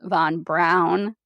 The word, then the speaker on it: Braun: according to that book his last name is pronounced Von Brown I swear I'm not